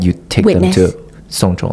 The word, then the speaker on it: 送钟: So in Chinese, yes, gift a watch is 送钟. It's pronounced exactly like seeing someone's death. Like someone died, you take Witness. them to 送钟, like through the whole process of that.